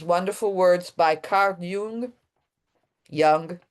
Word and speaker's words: Jung: Jung, they say, I say Jung because in Italian it's Jung.